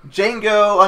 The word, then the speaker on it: Django: Django Unchained. The D is silent.